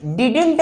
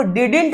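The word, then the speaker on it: didn't: क्या कर सकते हो डिड डिडेंट मत पढ़ना इसको ये डी जो है बाबू वो साइलेंट है ये बीच वाला डी साइलेंट है तो हम इसको डंट नहीं पढ़ते हैं इसको हम पढ़ते हैं बाबू डिंट क्या पढ़ते हैं डिंट पढ़ते हैं तो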